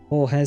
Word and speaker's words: Hohes: Hohes Schloss is high castle. German uses the silent H to elongate vowels.